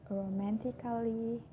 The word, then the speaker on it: romantically: So I'm not pronouncing basically, romantically, musically, just pretending that the A wasn't there.